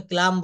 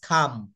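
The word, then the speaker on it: calm: দেখেন সি এল এম আমরা অনেকেই কিন্তু এটা এখনো ক্লাম বলি বি ক্লাম no right pronunciation is খাম খাম ক আকার ম হবে হবে না কেবল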